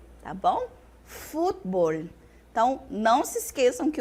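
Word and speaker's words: fútbol: eu tenho diplomacia diplomacia o futebol do português no espanhol se transforma futbol tá bom futbol então não se esqueçam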